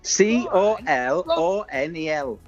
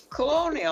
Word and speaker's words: colonel: c o l o n e l colonial You're getting a pen and paper.